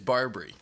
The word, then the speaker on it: Barbre: But Allan Barbrey, by the way, it is Barbrey. Um I know everyone calls him Barber, but Barbrey is actually the correct pronunciation of his name.